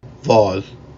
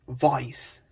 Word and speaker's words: voz: After stressed vowels before S at the end of a syllable, a consonant sound Y is inserted. For example, to say voice, instead of Voz. you'd say voice.